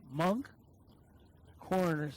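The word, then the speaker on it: Moncks Corner: Monk Corner, South Carolina.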